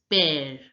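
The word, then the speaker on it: père: pronunciation of the this word and it becomes pair pair Lopez now listen to the pronunciation of the Native friend speaker just a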